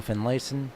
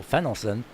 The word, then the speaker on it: Fenelon: deal starts 15th 16th Michael finen sorry Michael Fenelon uh that's how he wants to pronounce Ryan Harts starts in